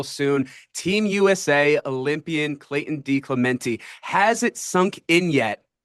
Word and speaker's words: DeClemente: I pronounce it DeClemente. Clemente. Ah, you are one of those that goes E.